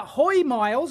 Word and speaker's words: Hoymiles: going to tear it down it's the uh hoi miles I have been told that is the correct pronunciation uh they make solar inverters and uh